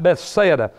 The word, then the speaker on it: Bethsaida: of the city a pathetic Bethsaida I should pronounce that right Bethsaida the city of best said was located at